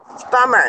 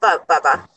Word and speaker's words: Bummer: It's Bummer, not Bubba.